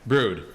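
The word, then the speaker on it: Bru-1: the name yeah brewed with blood oh okay brood so b-r-u b-r-u-1 is a new hop okay so we do a whole series called brood which are all different ones we do a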